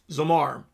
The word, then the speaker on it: zamar: saying zamar z a it's pronounced d-a-w-m-a-r zamar and it it is